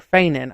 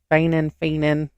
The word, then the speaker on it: Fenian: They were a militant group within the Irish Republic, or Feinin. I think that's how you say it. Fenian.